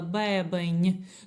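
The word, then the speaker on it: bebem: наш бебіш возиш бебень бачите чому я так піднаголосила бебень тому що коли є оце закінчення ень так як я казала в попередніх уроках воно не читається M не читається БМ читається як N ь це треба просто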